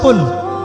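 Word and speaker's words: قل: কিন্তু আপনি যদি কফ এর মাখরাজটা ভুল করেন এবং কফ না বলে আপনি ছোট কাফ পড়েন এবং কুল না পড়ে আপনি কুল পড়েন, বলেন যে কুল হুয়াল্লাহু আহাদ, তাহলে অর্থটা পরিবর্তন হবে। অর্থ দাঁড়াবে খাও আল্লাহ এক এবং অদ্বিতীয়।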